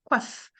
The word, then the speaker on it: coiffe: Let's say when you have a final E at the end of the French word, if the letters that is just before is the consonant, that's the consonant that is pronounced. That's not the E. That's why here the F takes it takes all the light.